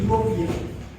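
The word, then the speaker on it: European: लेकिन कई बार इसका परिवर्तन हो जाता है, जैसे कि शुरुआत होती है यूरोपियन, तो जब शुरुआत हो रही है ई से तो इस शब्द को यू से क्यों करते हैं, यहाँ पे एक गड़बड़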